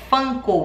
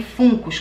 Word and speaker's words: Funko: para colocar nas minhas coisas né então a pronúncia correta americana é fã cowell está escrito aqui fungos a gente pode pronunciar também fungos como brasileiros a gente não é obrigado a